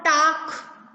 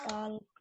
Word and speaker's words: talk: Okay, look at the next word, टाक। टॉक से find up करिए। बाल, टॉक। टाल्क, बाल, बेटा टाल्क नहीं बोलेंगे, टाल्क एल साइलेंट है। We should say टॉक, नॉट टॉल्क।